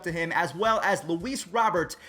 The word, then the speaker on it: Luis Robert: him as well as luis robert robert that's exactly how you say it but again for the sake of these videos everyone calls him louise robert he is going to